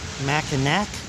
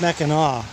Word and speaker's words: Mackinac: area is called spelled mackinac like i've been pronouncing it uh it's really pronounced mackinaw and in fact when